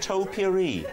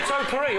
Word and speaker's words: topiary: that I will, it would be how you pronounce the word topiary. Did anybody notice he went topiary?